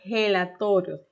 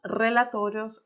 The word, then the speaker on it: relatorios: Ya que si leyéramos esta palabra en portugués, a gente fala relatorios, relatorios. Mientras que en español la R, que tiene esa fuerza, esa posible dificultad al momento de hablar, se diría re, re, ¿ok? Tiene que vibrar, no es fácil, es un desafío, pero se puede conseguir esa pronunciación. Entonces diríamos relatorios o diríamos reportes, ¿muy bien?